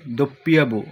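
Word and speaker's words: doppia vu: তারপর দেখুন, ইংরেজিতে আমরা এটাকে ডব্লিউ উচ্চারণ করি, ইতালিয়ান ভাষা হবে দোপ্পিয়াবু অথবা বুদোপ্পিয়া বলতে পারেন।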